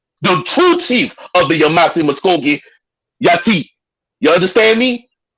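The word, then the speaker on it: Yamasee: family the yamasi okay that's how you're pronounce it yamasi okay so down there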